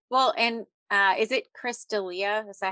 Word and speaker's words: D'Elia: Well, and is it Chris D'Elia?